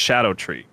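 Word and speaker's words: Scadutree: to focus completely on Scot tree blessings at this point yep okay which is apparently pronounced Shadow tree what learned on the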